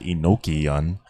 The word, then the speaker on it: Enochian: the Hebrew, but from the angelic or Enochian, pronounced Enochian, or Kelly and D, of Kelly and D.